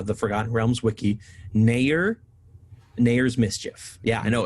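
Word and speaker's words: Nathair's Mischief: pronunciation from uh the forgotten realms wiki nair nayer's mischief yeah i know it's spelled nathar that's how i pronounce it yeah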